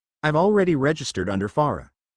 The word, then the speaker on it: Fara: I've already registered under Farah. It's spelled just like how it sounds. F-A-R-A.